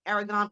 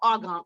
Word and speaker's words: argan: air i'm gonna help let me say it right aragon oil hopper or argan oil i think i should